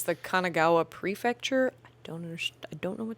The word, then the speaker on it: Kanagawa: I thought you said Kamigawa. No, Kanagawa.